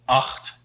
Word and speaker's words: acht: The CH here is pronounced a lot like the Dutch G, so acht, acht.